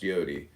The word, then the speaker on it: yod: Comment on yod yod pronounced yodi transcribed as I y